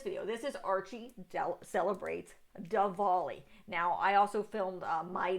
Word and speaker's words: Diwali: I'm Tiffany, a retired librarian turned homeschool mom, and in this video we're going to be talking about Diwali. I keep pronouncing it Dunwali because I'm an American.